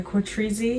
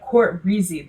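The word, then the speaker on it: CoutReezy: making weird facial expressions I'm currently watching a c trezy no courtreezy I learned that that's the correct way to say it I'm watching a courtreezy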